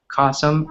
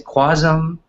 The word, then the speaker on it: Qasim: So I actually told them my last name rhymes with awesome. Qasim, awesome. You know, awesome. That's the only way they can remember. A lot of Americans can't remember, so they say Quasum.